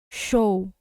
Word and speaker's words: show: várias vezes, veja, show, show, show. O que remete? O S representa o som da letra X. É como se a gente estivesse escrevendo show com X.